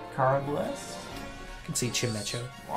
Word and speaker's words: Chimecho: nice gastrodon what how would you even pronounce that checkmaker oh chimacho yeah that's what i say yeah cara bless you can see chimecho reverse very nice oh that's all right